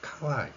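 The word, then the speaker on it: かわいい: 일본에서는 카와이라는 발음을 보면 애 발음이 없다는 거죠. 애정과 같은이 애바음이 없으니까 두 개로 소리를 누립니다.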